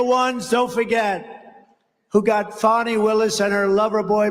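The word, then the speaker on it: Fani: But many, many people, their lives have been destroyed because of Fonnie, F-A-N-I, Fonnie. You have to pronounce it Fonnie. It's called Fanny. You have to pronounce Fonnie.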